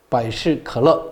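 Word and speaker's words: 百事可乐: 그럼 중국 발음으로는 바이시컬러 이렇게 됩니다. 그러니까 펩시하고 발음이 비슷하잖아요. 그죠?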